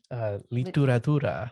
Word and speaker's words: literatura: Literatura. It's like literature, but in Spanish.